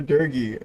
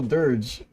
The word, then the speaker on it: dirge: Is it Dirge? Or Durgy? Am I pronouncing wrong? Oh, Dirge.